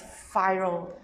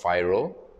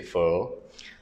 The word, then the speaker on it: FIRL: a YouTube channel and f i l is pronounced phyro uh most people get it wrong F so I don't yeah most people say fur uh and you know